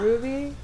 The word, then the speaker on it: RWBY: decide to actually start the show which is ruby is that how you pronounce it ruby yeah ruby rwby red white beige and yellow i'm just